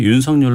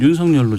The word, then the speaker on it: 윤석열: 확인을 했어요 10 사절로 발음하는 게 좋겠는지 아니면 윤석렬 로 발음하는 것이 않는 것인지 근데 윤석렬 전 총장 측에서 면서 별로 받아주세요 예 원한다고 해서 이름은 본인이 원하는 머리 하드웨어 권까지 특별하다고 그래서 저희는 유성 열로 좀 발음을 하고 있다는 점에서 인생 이야기 했습니다